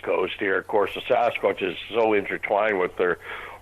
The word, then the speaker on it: Sasquatch: And they started talking about this thing in the hills called the Sasquatch. The best way to pronounce it is take the word bucket, drop the B, and add SAS to the beginning.